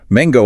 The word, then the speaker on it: mango: Mango also has the hard G.